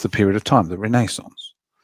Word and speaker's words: Renaissance: And I said, "Oh, you mean the Renaissance?" They go like, "Why did you say why do you say it like that?" I said, "It's the Renaissance." I said, "If it's a French word, come on."